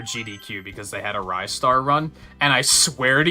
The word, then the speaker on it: Ristar: is still wrong and don't even get me started on wristar it's Rye star it's not wristar if anything it's restart but